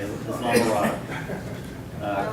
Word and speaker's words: Islamorada: Islamorada, I think is how it's Oh, is that pronounced. right? Yeah, okay. You were right. Okay, Islamorada.